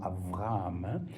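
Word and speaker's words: אברהם: Le deuxème c'est B qu'on prononce B ou V quand il est dans le mot par exemple Abraham. Les si vous entendez les juifs en parallèle en hébreu diront Avraham.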